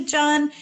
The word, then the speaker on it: Jun: any newbies out there who are new to john and again like we're saying john rhymes are fun but you can say june